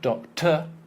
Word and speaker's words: doctor: So here, the stress syllable is on the first one, so you've got double stress there, and the second one, almost not there. Imagine you've just got T and R with no vowel.